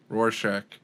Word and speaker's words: Rorschach: Rorschach. That's it. Okay, we got Rorschach, Kat. Yeah, there you go. Okay, I'm gonna start saying it. So Rorschach, Kat.